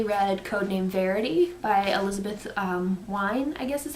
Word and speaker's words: Wein: Another one that I just was so crazy about, I finally read Codename Verity by Elizabeth Wein, I guess is how you say her last name.